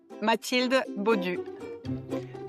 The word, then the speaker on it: Mathilde Baudu: Just so I don't pronounce your name wrong. Matilde Matilde Bodieu.